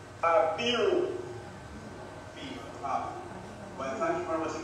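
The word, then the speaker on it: Abiru: Apiru, and it is spelled A B I R U. Apiru.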